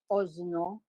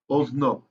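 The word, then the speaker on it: אזנו: Ozno, you pronounce it Ozno. Ozno.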